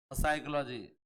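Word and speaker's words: psychology: साइकोलॉजी। अब जो ये बोले साइलेंट है, तो बोला तो लिखा क्यों यहाँ पे? तो साइलेंट होता तो लिखते क्यों?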